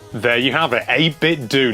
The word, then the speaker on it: 8Bitdo: Yes, this is the 8Bitdo FC30 Pro.